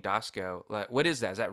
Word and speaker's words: Doskow: But yeah, no, it's funny because it's pronounced Doskow, this part of the country. But back east, all my cousins and relatives out there, it's Doskow. But people do Doskow. People say Doskow. I don't correct them. Even though it's Doskow out here, but a lot of people on the team, it's just, it looks the way it's phonetically, we see it Doskow.